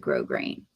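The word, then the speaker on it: grosgrain: um it and I we really do pronounce it grow grain hey Tammy so see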